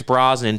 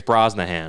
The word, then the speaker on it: Brosnan: I'm pretty sure for the longest time, Pierce Brosnan to you is Pierce Brosnahan. Yeah, you're probably right.